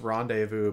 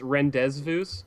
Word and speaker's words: rendezvous: that you see man and uh and let's rendezvous back over there where the bunny is actually pronounced rendezvous oh yeah my bad oh that's where where